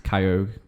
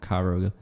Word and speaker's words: Kyogre: this because it's also kyogre not caillou rogue or whatever people call it the one from sapphire the little dolphin dude he's kyogre not kyro and then people say